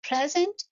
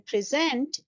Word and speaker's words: present: pronunciation rules for example two words have the same spellings like present or present in present we are stressing the first syllable and in present we are stressing the second syllable or if I